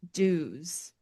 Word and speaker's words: Duwes: The next one that I want to talk about is Duwes, right? That's how Mhm. you say it, Duwes. Yep. This guy Use sounds pretty, but it's spelled like Dewes.